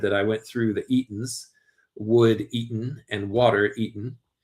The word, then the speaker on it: Eaton: And I say eaten, it's spelled e a t o n. I'm not saying eating uh with the G left off.